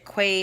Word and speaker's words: Quay: I got the Key by Kylie. The Key, Quay, however you want to pronounce it.